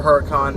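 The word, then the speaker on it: Huracán: probably go test driver Huracan I guess the H is silent I don't know some people use it some people don't but I'm gonna go test drive a car con I'd go test drive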